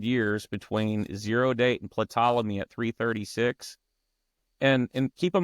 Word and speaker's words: Ptolemy: And it definitely, the 300 years between zero date and Ptolemy at 336.